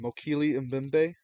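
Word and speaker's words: Mokele-mbembe: with I said it right the first time mokili and bimbe the sauropod yes yes but if you say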